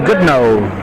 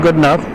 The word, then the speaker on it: Goudnough: And he said that fellow right there is good no. Not good enough, good no. It's spelled Goudnough, but it's good no, not good enough.